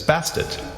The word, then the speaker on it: Bastet: additional feminine suffix as bastet the name change is thought to have been added to emphasize pronunciation of the ending t sound often left silent cats in ancient egypt